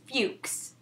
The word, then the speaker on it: Fuchs: If you didn't know how to pronounce my last name, if you don't know me, it's Fuchs.